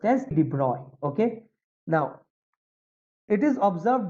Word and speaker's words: de Broglie: Actually, it is pronounced as de Broglie.